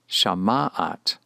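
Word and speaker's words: שמעת: With the verb shama, to hear, it is pronounced shama'at, shama'at.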